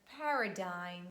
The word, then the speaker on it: paradigm: And another word that I wanted to give you with letter D is the word paradigm. D is not pronounced.